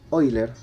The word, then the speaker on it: Euler: el señor ávila ávila oyler se pronuncia hoy la gran matemático dio